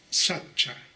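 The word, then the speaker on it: sacca: de la voz pali sachcha en la lengua pali la c se pronuncia como la ch Ah entonces el término p Sacha nosotros lo podemos Traducir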